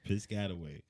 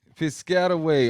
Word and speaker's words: Piscataway: Tasha out of New Jersey, because I'm not about to mispronounce that city. Piscataway. Piscataway. Okay. Or Man, you made it sound. Piscataway.